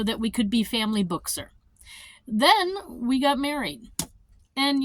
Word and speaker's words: Buchser: But it's Buchser for me. And so book and sir is how you say it.